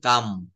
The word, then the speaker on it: calm: যেমন CALM, এটা কি আমরা কখনো ক্লাম বলি? অনেকে কিন্তু আমরা না জেনে এটা ক্লাম বলে ফেলি, ক্লাম, CALM, কিন্তু আসলে এটা হবে হচ্ছে কাম, কাম, কাম, কাম মানে হচ্ছে শান্ত।